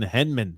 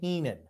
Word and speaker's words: Heenan: ham and Egger courtesy of Bobby the brain Henman so much Keenan spelled it wrong but you still pronounced it wrong it's Bobby The Brain Heenan okay grumpy he was spelled wrong that's why